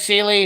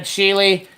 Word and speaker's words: Sealy: I thought I said Sealy, and I said Sheely.